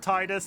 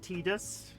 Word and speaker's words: Titus: very beginning identified that he was called Titus and I will never accept anything different. In the original trailer, the narrator applied it um the original narrator pronounced it wrong. He said Tedus.